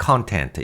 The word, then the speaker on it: content: 여러분, 내용이나 보통 목차 같은 거 이야기할 때 content 이런 표현 쓰지 않아요? content, 근데 여기서 발음은 content라고 액센트 조심하시고요.